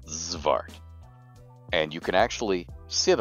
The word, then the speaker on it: Xvart: of very small creatures zart so that X at the beginning is pronounced like a zed or a z depending on whether you're Canadian or American zart and you can actually